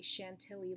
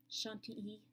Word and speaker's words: Chantilly: see it right now you would say Chantilly lace it is not the proper way to pronounce it shun te and with the teacher